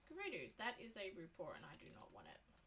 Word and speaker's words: Gerudo: Breath of the Wild, Gerudo versus Gerudo in pronunciation was very hotly debated. It wasn't until the voice acting came along for Breath of the Wild that it really kind of put all the pronunciation confusion to rest. It is in fact Gerudo.